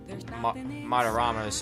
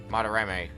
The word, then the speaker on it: Madarame: And afterwards we questioned him a bit about, Madarama's heart. Madarame. I've already forgotten how to pronounce his name.